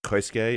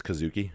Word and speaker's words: Kazuki: Helme I know the first name is not Christ gay it's Kazuki and I messed that